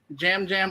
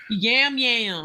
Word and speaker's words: Yam Yam: all land on the just talking to people Jam Jam already thinks everyone's his family already let's see